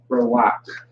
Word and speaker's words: Rawak: Rawak. Rawak is how you pronounce that.